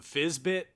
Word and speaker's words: Fyzbyt: My favorite of the day was from Fizzbit, I believe is how you say his name.